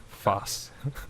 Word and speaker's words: Vos: need to change your name to the proper pronunciation. Voos. It would rather be this. Foss.